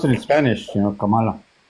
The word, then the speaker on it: Kamala: off the grid Kamala oh Kamala okay it's Kamala I want to pronounce it the way I speak Spanish is